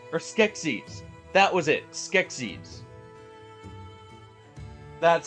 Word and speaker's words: Skeksis: Skeksis. That's how you pronounce it.